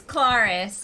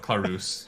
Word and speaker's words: Clarus: Is it Clarus or is it? Well, it wasn't until I got involved. It was always Claris. And now it is without a doubt Clarus.